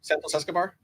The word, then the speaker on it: Santos Escobar: I'm thinking to myself, dear Lord, I hope Santos Escobar, oh my god, did I say it right? Is that his actual name now? Santos Escobar.